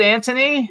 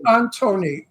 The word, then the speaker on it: Antoni: how we pronounce it Anthony yeah Anthony like Mark Anthony people say pronounced Anton Anon no not Anton because then they go Antony